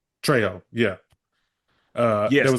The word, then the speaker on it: Trejo: We saw a image of Danny Terrero, Danny, I never know how to say his name correctly, but I mean we know a dude from Dusk Till Dawn, Machete, Danny Danny Trejo. Trejo, yeah.